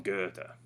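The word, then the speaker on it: Goethe: um we've got uh gota so the way they pronounce that is uh this way oops right johann wolfgang von guerta let's see i'll just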